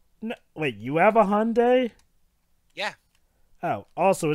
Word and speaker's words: Hyundai: No, wait, you have a Hyundai? Yeah. Oh, also, it's pronounced Hyundai, Dwibs, not Hyundai. It's Hyundai.